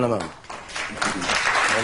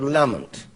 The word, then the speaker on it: Lamont: When we had a Chancellor, he was always called Lamont. Lamont, rather. And you're called Lamont, which I know is the Scottish pronunciation.